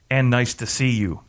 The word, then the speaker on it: Athanasiou: He's like, you got to pronounce it as, and nice to see you, is how to...